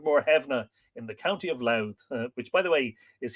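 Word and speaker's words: Louth: the battle of moreheavner in the county of loud which by the way is here spelled l-o-w-t-h we spell it these days l-o-u-t-h but anyway all named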